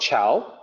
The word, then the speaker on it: ciao: People who don't really know, I see them type C-H-O-W when they want to say goodbye, ciao. So that's because they've only ever heard people say ciao without actually reading to realize that it's not C-H-O-W.